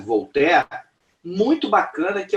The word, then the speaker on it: Voltaire: Escreve-se Voltaire, mas se pronuncia Voltaire.